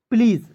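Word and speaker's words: please: मात्रा का प्रयोग कीजिए और एसी का उच्चारण ज के रूप में करेंगे क्या हो जाएगा प्लीज देखिए बहुत सारे ऐसे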